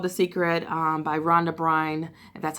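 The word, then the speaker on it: Rhonda Byrne: will read the book called the secret by Ron de Bruyn and that's how you say her name and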